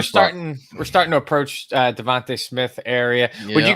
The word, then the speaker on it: DeVonta: It's Devontae.